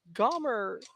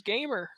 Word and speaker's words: Gomer: 2 outs here in the bottom of the third for Gomer Stevenson. I pronounced that wrong earlier. I thought it was Gamer.